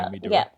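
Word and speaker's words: Naomi Duerr: senate seat you have Reno council member uh Naomi dur is that how you say her name yeah Naomi dur y yeah she's running and then uh Johnny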